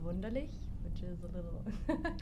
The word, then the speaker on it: Wunderlich: It's Wunderlich, which is a little Spelled like it sounds.